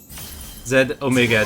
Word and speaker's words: Z Omega: Z Omega, the Omega is silent.